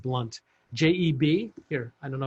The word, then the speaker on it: Blount: name is jeb blount it's actually pronounced blunt j-e-b here i don't